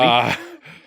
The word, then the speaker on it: Ggiata: And Ggiata, I'll say this. Is it, and how do you say it? Is it just Ggiata or is it Ggiata? I don't think you pronounce both G's.